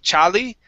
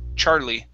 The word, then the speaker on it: Charlie: name Charlie okay Charlie instead of charie CHA it's Char for the r Charlie Charlie okay all right